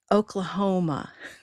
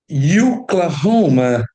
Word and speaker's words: Oklahoma: Oklahoma. Okay, it could. If it were stressed on the first syllable, it would be Oklahoma. Now, it happens to be stressed on Oklahoma.